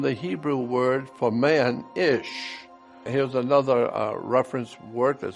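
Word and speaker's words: איש: Hebrew word for man, Ish. Here's another reference work that said, interesting, the words for man and woman in Hebrew is identical. Man in Hebrew is pronounced Ish and looks like this.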